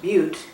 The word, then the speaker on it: Butte: over her ticket and pronounced Butte with two syllables as he punched a